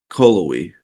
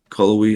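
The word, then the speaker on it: Cullowhee: good place is um callowy c-l-u-w-e-e i believe it is callaway i don't even spell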